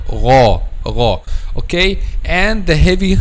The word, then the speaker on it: غ: And you see this is letter Ghayn here. So letter Ghayn is one of the heavy Arabic letters. So all these letters, when you pronounce them, the back of the tongue should be raised.